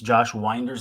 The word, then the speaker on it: Josh Winder: Stitch please wants to know how should I pronounce Josh winder's last name uh I just said it Josh